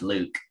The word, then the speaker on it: LIWC: and logical words uh from liwc or it's pronounced luke um this is a